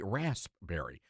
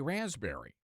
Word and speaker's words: raspberry: Now, I believe in pronouncing the P, raspberry, but some people say raspberry.